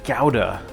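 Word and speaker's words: Gouda: on but he said it's actually pronounced gowda which I don't like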